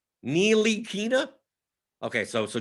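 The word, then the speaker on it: Ntilikina: you have to phonetically neelykina okay so so jonathan loriano says it's a silent t i always thought it was a silent end i thought it was frankie tilikina so it's frankie nilokina nealy kina nealykina why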